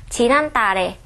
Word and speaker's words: 지난달에: Trong tiếng Hàn khi được viết là 지난달에 nhưng khi phát âm được nói là 지난달에.